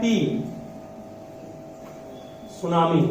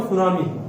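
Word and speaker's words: tsunami: लिखता है टी, सुनामी, मतलब यहाँ पर टी वर्ड साइलेंट है, पढ़ते क्या इसको? सुनामी, टी silent, टी silent word, मतलब इसको आपको उच्चारण नहीं करना है, इन्हें टी सुनामी बोलेंगे इसको, सुनामी बस। ठीक है, क्या बोले? सुनामी, नॉट टी सुनामी।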